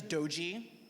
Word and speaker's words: Dodzi: My name is Doji, that's how you pronounce it.